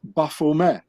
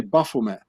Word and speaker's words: Baphomet: thing called the Baphomet, which has to be pronounced Baphomet, because the Knights Templars, they spoke French and not English. So the T at the end of Baphomet, it's not being pronounced in French, so you say Baphomet.